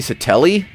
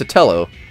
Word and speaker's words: Sotelo: Becky Soteli? Did I misspell that, or have I been wrong this whole time? It's Sotelo.